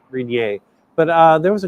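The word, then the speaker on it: Rainier: I taught my kids it's not Mount R it is Mount rier but uh there was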